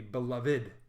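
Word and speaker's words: belovèd: he would expand so if you ever see little accent mark over the IDI like we'd say beloved with an accent mark would be beloved so you have an extra syllable added all right so he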